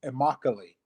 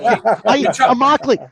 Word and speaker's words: Immokalee: to play football yeah I'm a correct the the verbiage there is Immokalee and that's right Immokalee hey what's funny is